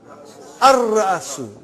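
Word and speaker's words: الرأس: How will you pronounce? Ar-Ra'asu. Not Al. Ar-Ra'asu. The head.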